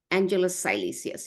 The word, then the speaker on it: Angelus Silesius: Angelus Silesius, is that the correct name? I pronounced it right?